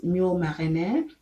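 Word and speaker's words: moules marinières: And then there is mule marinière, which is spelled MOULES space MARINIERES, and it looks like clams.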